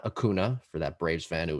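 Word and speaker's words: Acuña: so eloquently corrected him it's acuna akuna i mean you hear his name if you're a braves fan you should be able to say his name you hear it a million times idiot it's a cunya ronaldo cunha jr those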